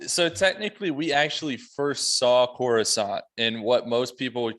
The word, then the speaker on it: Coruscant: He came up with the name Coruscant, which is actually also an English word, not pronounced that way, that means glittering.